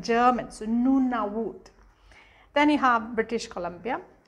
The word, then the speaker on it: Nunavut: you read exactly as it is it's like noona viewed and it's not pronounced like that because when it comes to